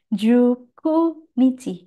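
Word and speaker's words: 十九日: 19, Juku Nichi. Tidak pakai Q tapi Ku.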